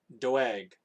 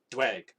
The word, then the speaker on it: Doeg: He was Doeg. Dweg. That's how you pronounce it, I think.